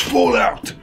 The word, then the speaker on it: Fallout: En plus, ça se prononce Fallout.